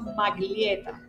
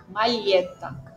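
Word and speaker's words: maglietta: Recuerda que la g y la l no las no no pronuncio maglieta, pronuncio magta. Mageta.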